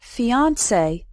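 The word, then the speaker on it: fiancée: The words for an engaged couple are fiancé. They're pronounced the same, but spelled differently.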